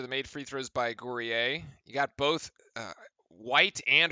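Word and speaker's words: Guerrier: Gourier. Ah, I had it right. It is. It's like French. We can do that. All right. Duke now trailing by two after the made free throws by Gourier.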